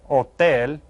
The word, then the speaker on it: hotel: Un hotel. Remember, you don't pronounce the H.